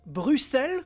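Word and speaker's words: brucelles: cette pince qui est une pince Bruxell comme la ville ça s'écrit pas pareil mais ça se prononce de la même façon donc cette pince Bruxelle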